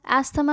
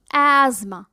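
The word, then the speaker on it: asthma: आई am sure एस्थमा ही कहते होंगे, क्योंकि स्पेलिंग्स के हिसाब से तो यही बनता है, लेकिन यहाँ पे था साइलेंट रहता है तो सिर्फ एज़मा रह जाता है।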